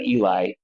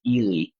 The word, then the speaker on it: Ely: I've heard people call it Eli, even though it's not spelled like the name Eli, but it's Elely Nevada.